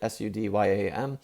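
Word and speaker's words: Suydam: I also had two signatures in the same proximity from Arthur Sweedam. Is that Sweedam? How do you say it? Sudyam.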